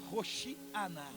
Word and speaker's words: Hosana: o povo vai dizendo Hosana verdade a pronúncia correta é rochear roxianá hosana hosana só que como a